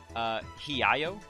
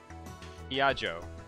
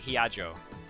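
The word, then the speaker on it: Hiyajo: Maho Hiayo? Huh? Victor Chondria University, USA. Brain Science Institute. Hiajo. Oh, okay. I was thinking like Spanish, where the J's are like Y's. Okay, Hiajo.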